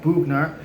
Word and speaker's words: Boughner: I know I always pronounce things wrong, but it's Bob Boughner.